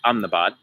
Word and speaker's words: Ahmedabad: Welcome to Ahmedabad, or I would say Ahmedabad, India. The locals say Ahmedabad.